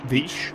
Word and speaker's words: Veach: Warren Veach. I have been told that it's pronounced Veach.